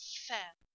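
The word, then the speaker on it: ف: easy letter which is fair if you see if you pronounce fair you will notice that you bite your down at lips okay your bottom lips so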